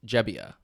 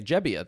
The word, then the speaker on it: Gebbia: Joe jebia okay okay I might say gebia sometimes because the this is actually an interesting story I just learned he used to go by gebia but he recent somewhat recently within the last couple years did like a um a family genealogy project and found out where his family was